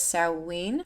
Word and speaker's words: Samhain: Samhain, and I've also seen this pronounced as Samhain, so I might use it interchangeably in this video, so if I change the pronunciation, that's why.